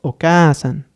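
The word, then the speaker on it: お母さん: Y al final tendríamos Oka-san, haciendo ese énfasis en la letra A.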